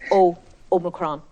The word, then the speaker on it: omicron: heading off to the same quiz so we pronounced it oh omicron right well jane there's a point for you